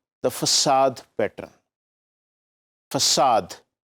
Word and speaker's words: facade: Facade. Please note the pronunciation of this thing. This is facade.